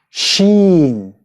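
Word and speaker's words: ش: Then we have the letter sheen. Sheen. Which is pronounced sh. Sh.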